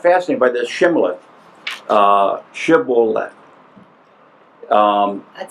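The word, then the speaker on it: shibboleth: fighting another group and the first group could say shth the other group could only say cth so when they would wanted to cross the Jordan they'd say say shibolet yeah and if they said it right they got across him they said it wrong they couldn't interesting well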